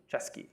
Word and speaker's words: Chesky: kalyanic no kalanic kalanic yeah and it's chesky chesky yes Ryan chesky of Airbnb okay difficult it